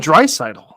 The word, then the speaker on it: Draisaitl: How the hell do you pronounce his last name? It's like Phil. It's Leon Draisaitl.